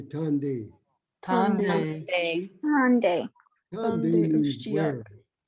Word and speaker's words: Tande: Well, this next word might be a little tough to pronounce. Tande. So everybody say Tande.